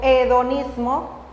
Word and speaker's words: hedonismo: el peronismo o peronismo lo que pasa es que se escribe con h y lo mismo no podemos pronunciar así como hedonismo en castellano en español así lo vamos a pronunciar como el hedonismo y esto es lo